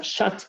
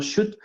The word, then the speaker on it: shot: y no dos eh se pronuncia shat, no no shoot y ahí sí es lanzamiento.